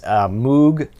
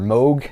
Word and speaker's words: Moog: the who this is Moog album or mogh depending on how you want to pronounce it a mock version of